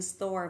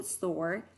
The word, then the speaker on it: store: Now, the way I pronounce the American English is I always bend my tongue when I get the R sound.